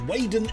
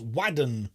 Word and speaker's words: Waden: Oh, Ronan says, Waden is me. Hello, Ronan. Why do you call yourself Waden then? Oh, it's meant to be pronounced Wadden, really.